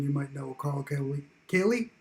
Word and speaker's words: Hallee: Hallee, I believe is actually how you pronounce the name.